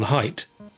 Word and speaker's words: height: Because it's width and depth, therefore there must be a TH sound on height, even though it's not spelled that way.